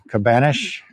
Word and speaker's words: Cabanas: our other Adventures um Cabanas cabanesh is kind of How It's pronounced Cabana and I'm actually